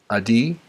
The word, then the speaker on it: Adi: It is written by Adi, A-D-I, Jaffe.